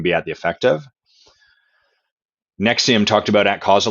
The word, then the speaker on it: NXIVM: And for anyone trying to find about Nexium, it's spelled a bit weird. It's spelled NX. How do they spell it? Nexium. I think it's NXIVM.